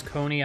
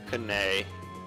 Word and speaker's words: Coney: Because I can't think of a different way to say Coney Islands. Unless you just intentionally say it wrong. Kanay. Kanay. Why? I don't know. I'm just thinking of ways that you might mispronounce Coney. Or Connie, maybe.